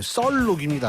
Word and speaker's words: 썰록: 셜록이 아닙니다. 발음 조심하셔야 돼요. 썰록입니다. 썰록.